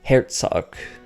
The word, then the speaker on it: Herzog: In Germanic languages, it would be pronounced Herzog, because whenever G's end up at the end of German names, a lot of the time it'll end up having more of a hard C or K sound given to it.